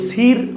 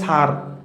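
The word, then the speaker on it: sir: করা কিন্তু আমি যদি বলি এস আই আর উচ্চারণ কিন্তু সির হয় না উচ্চারণ হয় স্যার অর্থাৎ আমরা দেখতে পাই ভাওয়েলের সরি আর এর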